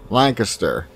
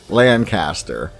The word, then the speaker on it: Lancaster: or five feet tall has been decided around Lancaster County for over 500 years or more before I get some comments on this we pronounce it Lancaster not Lancaster at least in my area of Pennsylvania this